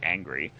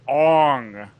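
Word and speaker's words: Aang: don't look at the source material and and mispronounce the main character's name throughout the entire movie his name is ANG right yeah and they're like no his name is on okay so I think the if you want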